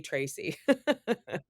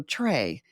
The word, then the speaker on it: Trae: right they do or sometimes they call me Tracy people usually get my last name wrong they usually call me instead of